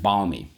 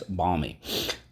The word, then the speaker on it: balmy: extreme something like that balmy okay bomb e all right so let's go first syllable that's the base word the root word bomb second syllable li i'm sorry we have to go back here underline the l twice because technically it's silent okay let's go third sound on the line the l twice balmy okay what do we